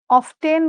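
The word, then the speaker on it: often: অফটেন বা অফেন দুইটা উচ্চারণ সঠিক।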